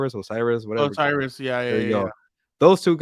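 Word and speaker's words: O'Cyrus: Osiris, yeah.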